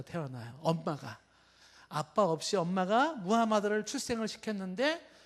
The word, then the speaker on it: 무하마드: 이거를 만든 창시자를 우리가 뭐 모하메드 뭐 발음이 여러 가지가 있는데 표준적인 발음은 무하마드.